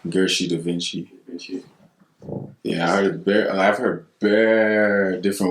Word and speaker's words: Gershii DaVincii: We have a special guest tonight, Gershii. Killing it for the city right now, you know? Yeah, respect, you guys say. Yeah. First, was that pronounced correctly? It's Gershii DaVincii.